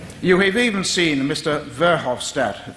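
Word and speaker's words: Verhofstadt: have even seen Mr verhoff stat that's how how you pronounce it their new head EU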